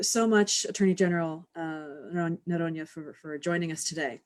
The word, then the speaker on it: Noronha: Our guest today is attorney attorney general of Rhode Island Peter Nona or Nona I think is uh the the Portuguese pronunciation if I did that correctly. Yes, you did.